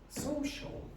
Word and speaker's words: social: You need to go social, social, shul, shul, social. Again. Social. Again. Social. Now, do you hear the problems with the s and the sh?